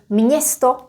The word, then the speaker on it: město: If I pronounce it slowly, it will be like this. Město, město. Imagine there is a n in here. Ň. Except we don't write it.